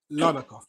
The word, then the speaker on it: Larnaca: And just for clarity, is it pronounced Larnaca?